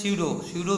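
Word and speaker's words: pseudo: स्यूडो means स्यूडो means यहाँ पर P silent है, स्यूडो means false, podia means feet.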